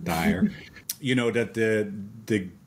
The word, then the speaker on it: Dyer: this thing Dr Wayne Dwyer said Dwyer's dad's name Wayne Dyer Dyer I knew I was saying it wrong dire you know that the